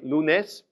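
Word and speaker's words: lunes: Monday in Spanish is Lunas try to say Lunas now Lunas comes from the word in the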